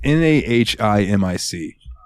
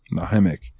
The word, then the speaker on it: Nahimic: So I'm on Reddit and I find it, and it says, if you happen to have the Windows, and I think it's pronounced Nahimic, it's Nahimic. Nahimic.